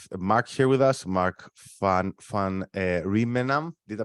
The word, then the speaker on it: van Rijmenam: We're very happy to have Mark here with us, Mark van Rijmenam. Did I pronounce this correctly?